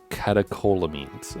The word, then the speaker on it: catecholamines: Catecholamines, apparently is how it's said.